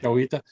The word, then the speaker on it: Chihuahuita: be over at the Chihuahuita, how do you pronounce that? Yeah, Chihuahua, you had it right. Chihuahuita, over on the side.